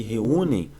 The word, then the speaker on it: reúnem: Então aqui reúnem, o EM é como se fosse, reúnem, é como se fosse daqui. Reúnem, M equivalente a I e o E contínuo, ditongo nasal decrescente, tá?